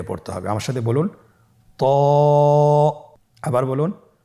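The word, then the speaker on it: ت: হবে আমার সাথে বলুন ত আবার বলুন ত এর মাখরাজ কোন জায়গা থেকে আপনারা স্ক্রিনে দেখতে পাচ্ছেন জিহ্বার আগা সামনের উপরের দুই দাঁতের গোড়ার সঙ্গে লাগিয়ে উচ্চারিত হয়।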